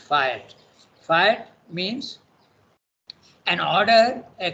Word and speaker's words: fiat: Okay, by the way, the word is pronounced fiat.